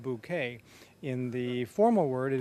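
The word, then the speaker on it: Bucket: in the english comedy it's b u c k e t pronounced bouquet in the formal word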